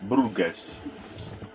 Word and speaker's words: Bruges: we are near brughes Bruges I think it is pronounced like this However in the North